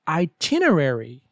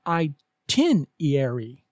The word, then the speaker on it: itinerary: and last but not least number 13 say itinerary not i10 iary example Shaquille's itinerary takes him to bogota and